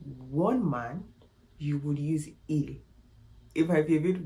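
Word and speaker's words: ils: but there's a catch in French you use ill when they're all men okay you use l when they are all women however if there are 99 women and one man you will use ill it might be a bit weird it might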